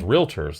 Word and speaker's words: realtors: we as agents, as realtors, like to use. Realtors. Realtors, remember? yeah. 2 syllables, usually.